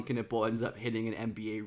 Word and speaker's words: Knueppel: talk about Duke freshman Wing Khan kiple yes pronounced kiple Khan himself said that's how you pronounce it so that's what we'll be going with and kiple is an unbelievable shopmaker one of the best